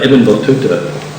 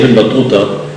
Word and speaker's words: Ibn Battuta: The T's in his name, and I know some of you are American students maybe studying Arabic, the T's in his name are what are called an emphatic, meaning that makes that to sound to rather than to, you know.